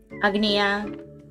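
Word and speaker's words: Агния: This one sounds like yeah. Agnia.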